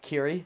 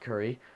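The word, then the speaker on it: Cirri: His name is Assault Kiri, C-I-R-R-I. That's how you pronounce it. Kiri, not Siri, not Curry, not Cody. All pronunciations I thought it was first, but yeah, Kiri.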